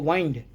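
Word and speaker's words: wind: उसी तरह से यह जो हवा बह रही है यह विंड है डब्ल्यू आई एन डी। लेकिन इसी विंड को इस्तेमाल अभी मैंने किया घड़ी के कि भाई घड़ी में चाबी दे दो। तो हमने कहा इसको वाइंड। लेकिन जब क्वालिटी बताएंगे याद रखिए तो कहेंगे विंड।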